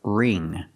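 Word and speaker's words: wring: remove the water pronunciation the W is silent so we use the r sound r r ring the ing makes the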